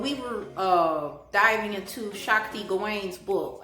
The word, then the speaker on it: Gawain: When we were diving into Shakti Gawain's book, I said her name wrong. It's Gawain, not Gawan.